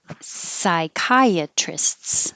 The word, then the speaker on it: psychiatrists: So, psychiatrists, the STS is tricky. Trists.